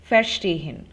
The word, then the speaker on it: verstehen: In case of untrennbare verb, the intonation is not on the prefix, verstehen.